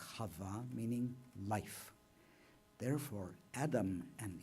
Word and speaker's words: Chava: And Eve, which we mispronounce, the original name is Chava, meaning life.